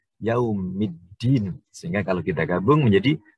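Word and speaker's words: يوم الدين: Sehingga bacaannya menjadi yaumiddin. Tidak boleh kita dibaca yaumi al-adin, nggak boleh. Harus yaumiddin. Sehingga kalau kita gabung menjadi maliki yaumiddin.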